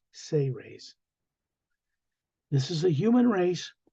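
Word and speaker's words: Seres: book s-e-r-e-s but it's pronounced phonetically as if it was spelled s-a-y hyphen r-a-y-s say raise this is a human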